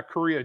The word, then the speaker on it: Correia: Ladies and gentlemen, Larry Correa. Am I pronouncing that correctly? Yeah, Korea, just like the country.